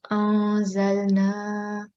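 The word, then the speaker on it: أنزلنا: So this will be nasal sound and concealment. Anzalna. So as you can hear that I did not pronounce noon with clear sound. I concealed this noon sound. Not an, but anzalna.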